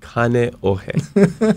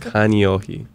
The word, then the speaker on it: Kaneohe: So poke, and it's kaneohe, not kaneohe.